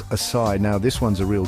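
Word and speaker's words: açaí: I'm talking about the folks who say acai or acai. Bless their hearts, they're trying. But the truth is, it's pronounced acai.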